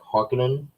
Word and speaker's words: Harkonnen: they showed kind of i say harkonnen they kind of pronounce it like harkening did you notice that